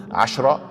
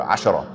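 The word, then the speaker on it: عشرة: The word ashra can be pronounced with a fatha or a sukoon, ashra or ashara. So both pronunciations are okay.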